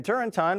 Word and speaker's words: Turrentine: Democrat Dan Turrentine, rhymes with wine, agrees.